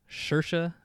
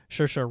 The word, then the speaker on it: Saoirse: The actress that played Lady Bird, I believe you say her name, Saoirse. I believe that's how you say her first name. Saoirse Ronan.